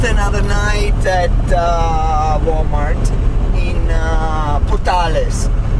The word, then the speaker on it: Portales: We spent another night at Walmart in Portales. I think George said Portals, but I think it might be pronounced Portales. Yeah.